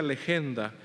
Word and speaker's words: legenda: que se llama que se dice o se pronuncia legenda y que quiere decir lo que debe ser leído.